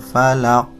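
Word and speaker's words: فلق: Perhatikan pada akhir ayat. Saya bacakan. Qul a'udzu birabbil falaq. Falaq ada pantulan.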